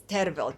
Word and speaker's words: Tervel: the proper name to spell his name to pronounce his name is terrible t-e-r-v-e-l or as his full name goes and